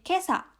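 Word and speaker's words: 今朝: ini dibacanya kotoshi Terus kalau ditambahkan dengan kanji pagi ini dibacanya menjadi Kesa yang artinya adalah pagi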